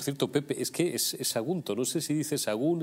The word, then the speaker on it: Sagunto: No sé si es que dice, quiere decir Sagunto, pero se come la última sílaba. Sagún. Que no, Pepe, Sagunto.